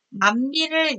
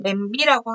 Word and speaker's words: 냄비: 자, 이모음 역행동화이자 전설모음화라고 보이는 이 현상에서 남비를 냄비라고 하는 것. 냄비라고 쓰고 냄비라고 읽죠.